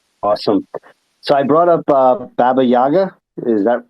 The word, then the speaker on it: Baba Yaga: So I brought up Baba Yaga. Is that did I pronounce that right? That's perfect, Baba Yaga.